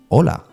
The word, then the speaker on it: ola: And then you have hola, which is pronounced exactly the same without the H.